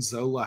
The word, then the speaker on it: Zola: Zola. You did, yeah. Queen Zola. So is Queen Zola like powerful? And I don't mean in like a political machination way. I'm talking, does Queen Zola have like, you know, real power, like magical power.